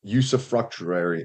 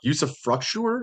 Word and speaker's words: usufructuary: called um naked ownership and usufructuary did I say it right no Usef fruu yes use fruu thank you I'm just not going